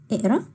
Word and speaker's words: اقرا: فوق ديت شبه الف، ده ما بنقولوش قاف. هي اللغة العربية بنقول عليه قاف، في اللهجة المصرية هنقول ا ا كأنك بتنطق همزة. يبقى اقرا بقرا قريت هقرا.